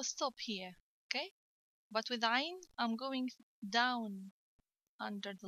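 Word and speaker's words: ع: Don't pronounce Ayn like Alif. Don't say Ayn. Say Ayn. Okay, this is the letter Ayn.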